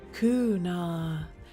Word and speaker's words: Kuna: Kuna. That's how you say it.